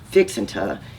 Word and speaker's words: fixing to: this way fixing to fixing to is often pronounced as fixant in Texas conversations and means someone is